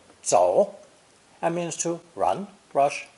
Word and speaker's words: 走: This ideogram is pronounced third tone, 走, 走, and means to run, rush, leave, or simply to walk, depending on the context.